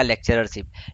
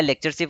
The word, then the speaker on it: lectureship: हम आम बोल की भाषा में बोलते हैं फ्रीशिप या लेक्चररशिप। लेक्चररशिप नहीं होता है, जैसा कि मैंने अभी बताया लेक्चरशिप होता है। तो लेक्चरशिप की स्पेलिंग होती है LECTURESHIP, लेक्चरशिप। और फ्रीशिप नहीं बोलते हैं,